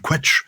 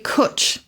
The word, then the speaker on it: cwtch: I would have pronounced the Welsh word quetch, because it's spelled like that, but is it not pronounced that way? No, it's definitely cwtch. Cwtch. To rhyme with butch. Butch, essentially. So, well, I can start